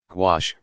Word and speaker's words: gouache: what is gouache you quash which rhymes with squash is a type of